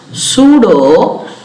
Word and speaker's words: pseudo: So it is not a true autosomal portion, hence we call it as pseudo autosomal region. Pseudo autosomal region. Previously this is called as PSAR, PS for pseudo, and P is silent, it is called as SAR region.